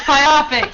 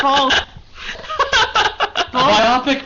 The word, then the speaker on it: biopic: just another bu argument it's biopic damn it it's not B biopic sounds like something like bionic but that's what it that's how you say it because of like because of the word bionic they they're both have